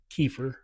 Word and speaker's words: kefir: the US, it's kefir. Kefir. Generally, Okay. if you're in Europe, it's kefir. Okay.